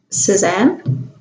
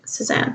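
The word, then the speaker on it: Cézanne: that is a fake suzanne let's see if we can look that up sazon i think is more accurate pronunciation but suppose that in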